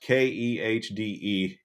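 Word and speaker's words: Kehde: Ned Katie is his name. It's pronounced Khde.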